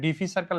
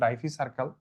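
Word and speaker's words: diphycercal: এখানে ডিফি সার্কেল লিখছি। এটা একচুয়াল উচ্চারণ ডাইফি সার্কাল।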